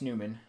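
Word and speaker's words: Nyman: I'll double check the uh NHL pronunciation guide, but I believe it's Newman. Yeah, it's Newman.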